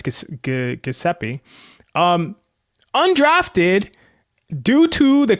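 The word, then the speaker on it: Gillespie: I always say I always want to say Jeppe. I know it's Gaseeppi.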